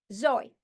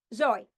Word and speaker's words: Zoi: My first name is Zoe. So, Zoe. I have 1 syllable. My name is 1 syllable. Zoe.